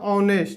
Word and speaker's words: honest: तो ऑनेस्ट, तो इसको क्या लिखा था ऑनेस्ट, तो केकरा चलते लगेगा एच के चलते नहीं लग रहा है, उसका उच्चारण हम लोग पढ़े तो क्या रहा है ऑनेस्ट, तो इस चलते क्या